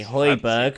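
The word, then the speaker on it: Højbjerg: there isn't really well that's the Danish pronunciation sorry I've been in Scandinavia for too long but that's the actual pronunciation okay Hoiberg for those that's the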